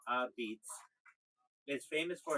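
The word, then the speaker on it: apizza: They say New Haven pizza, locally called a pizza, pronounced a beats, is famous for its thin, chewy, and intensely charred crust, baked in high brick ovens.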